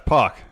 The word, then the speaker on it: Pac: Yeah, it's Pac.